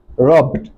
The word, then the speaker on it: rubbed: Okay, so the word R-O-B, R-O-B, the word R-O-B, okay, the past tense of that word will be rubbed, rubbed, rubbed. Why? Because ba is what?